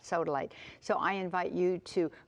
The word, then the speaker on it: sodalite: It's soodily. I think I mispronounced that. Sodaly.